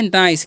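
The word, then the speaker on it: nice: क्या लिखा हुआ है नाइस क्या लिखा हुआ है एन आई सीई तो इसे हम नीचे नहीं पढ़ेंगे यहां पर आई का उच्चारण आई होगा क्योंकि ये देखिए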